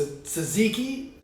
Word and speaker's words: tzatziki: a Tucker suckish toast now in Greece they pronounced a tzatziki and we'll be pairing